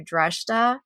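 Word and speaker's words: Dreshdae: And so what I thought was interesting was that they took him to Dreshta, is the way that they pronounced it in the book, which I never realized that that was the capital city of Korriban.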